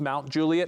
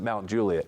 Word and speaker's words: Mount Juliet: And so I hadn't been there long enough to know that it's pronounced Mount Juliet.